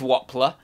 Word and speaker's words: Wobbler: That's why I call it Biz Wobbler. Sorry, Biz Wobbler, because it rhymes with toddler.